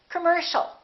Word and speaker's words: commercial: And the final word, once again, the second syllable is stressed. The O and the IA are both reduced. So it's not com or calm, it's come. Commercial. Don't say commercial or commercial. It's O. Commercial.